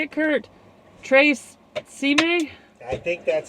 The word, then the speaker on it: Tre Cime: Tre Cime? I think that's how you say it. Tre Cime.